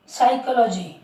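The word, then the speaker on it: psychology: एन और एस के पूर्व, एन के पहले और एस के पहले जहाँ पर पी आ जाएगा तो पी क्या रहेगा? साइलेंट रहेगा।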